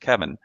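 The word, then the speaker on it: Cevin: you're going to see the letter c e v i n pronounced kevin you know kevin was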